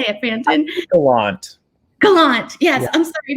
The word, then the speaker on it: Gallant: I always have anxiety about mispronouncing. How do you say it, Brandon? Gallant.